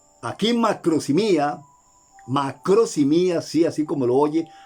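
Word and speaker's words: μακροθυμία: con las personas, y es la palabra griega macrosimia. Paciencia, que significa paciencia. Algunas veces se traduce también en nuestras Biblias castellano, longanimidad. Y aquí macrosimia, sí, así como lo oye, macrosimia, así se pronuncia, viene de macros, grande, extenso, largo, y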